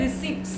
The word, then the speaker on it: receipts: Next is again very important, receipts. हम spelling है RECEIPTS, but P is silent. Don't say receipts नहीं बोलना, receipts.